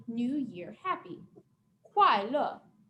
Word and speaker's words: kuai le: Kuai le. And this one has fourth tone, a dropping tone. So like you're chopping down with your hand and your voice.